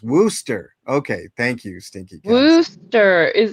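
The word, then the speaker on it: Worcester: Well, you know, you know, uh, no R and Worster. It's pronounced Worooster.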